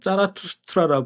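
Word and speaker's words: Zarathustra: 에밀 싱클레어의 안내자가 됩니다 자 페르시아와 발음으로는 짜라투스트라 읽는 조로아스터교는 페르시아의 국교였던 모양의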